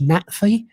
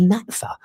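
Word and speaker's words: NATFHE: or Peter Francis, where my previous union, it's pronounced NATFE. It's the lecturers' union. It's the union for further education, and they constantly kept referring to it as NATFA.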